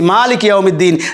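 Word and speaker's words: مالك يوم الدين: উচ্চারণটা দেখেন রহমানির রাহিম এবার দেখুন মালিকি ইমিদ্দিন মা টানতে হবে একই আমরা বলছি মালিক ইউমিদ্দিন যিনি মাস্টার অফ ডে অফ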